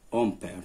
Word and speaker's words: ampère: ça c'est ampère. donc الوليدات نطقو c'est ampère.